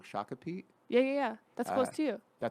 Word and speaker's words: Shakopee: Shakopee.